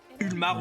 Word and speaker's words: Ulmar: Ulmar. Ulmar, vous le prononcez comme vous voulez. Ça s'écrit Ulmar en tout cas. U L M A R.